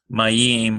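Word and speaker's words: מים: We would pronounce the M sound, ah, ma, and then we would go to the next.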